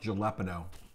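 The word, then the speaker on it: jalapeño: a state native pepper it's pronounced jalapeno oh okay sorry did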